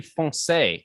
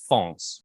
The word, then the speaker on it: foncé: I know, but it's not that difficult to add an extra syllable to the end of the word. It's like, it's meant to be foncé, not fonce. It's a 2-syllable word.